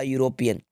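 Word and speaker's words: European: ये जो वर्ड है इसको पहली बात तो यूरोपियन पढ़ेंगे। ठीक है, यूरोपियन। और ये जो ई है, ई इसमें साइलेंट है। यू जो है, ये जो यू है, यू आपको या का साउंड दे रहा है। किस चीज़ का साउंड दे रहा है? या का।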